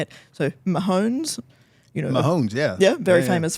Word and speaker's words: Mahomes: So Mahomes, Mahomes, yeah. Yeah, very famous footballer. Very famous footballer. And his wife. And Taylor Swift and the wife, Brittany Mahomes, were hugging.